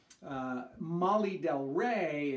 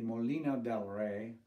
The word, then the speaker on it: Molino del Rey: become a an amputee molly del rey is sailor pronunciation for the mexican city molino del rey which is uh it's